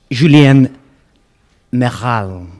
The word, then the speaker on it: Julien Mairal: The pronunciation is fine because it's actually come from some part of Spain.